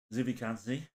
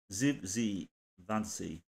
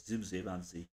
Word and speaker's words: Zivzivadze: Zivzivadze. I do apologise. I've completely butchered that. Zivzivadze. There you go. He's got the same. The first two bits of his name are the same, so it's Zivzivadze.